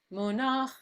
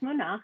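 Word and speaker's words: מֻנַּח: Monach. You had the music right and the name wrong. That's Munach, and then after Yeah, that you Nasim.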